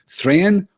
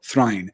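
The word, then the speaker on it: Thráin: mountain in The Hobbit who is thr or thine depending on your pronunciation and there are two camps and those two camps will never reconcile he is either thren or thrin his the the the kin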